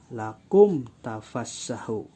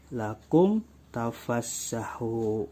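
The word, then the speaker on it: لَكُمْ تَفَسَّحُوا: hijaiyah kecuali mimba maka dibacanya lakum tafassahu tidak ada demung di sini ya Jadi tidak tidak boleh lakum tahu face1 tidak boleh jadi langsung lakum tafassahu kecuali minimnya bertemu dengan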